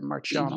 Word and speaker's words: Marchiano: I hope I pronounced your last name right there, Marchiano. You did. You did, yes. I was thinking maybe if it's Italian, it should be a K sound, but...